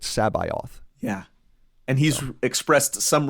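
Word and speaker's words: C'baoth: heir to the Empire how did you pronounce sabayoth sabalf sabath I did that's how I pronounce it okay cool I believe it was someone in I think it was his latest 2017 before someone asked zon at a convention directly how you pronounced it and Zahn said that he pronounced it sabioth yeah and he's expressed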